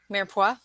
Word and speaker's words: mirepoix: Mirepoix. Thank you. The mirepoix under, but whole. No garlic. We never put garlic with our turkey. No, we don't. Yeah, we don't do garlic. Mm-mm. There's Mm-mm. the mirepoix.